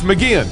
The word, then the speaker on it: McGeachin: governor vaho Janice mcgean it's mcgean you said it right I said it right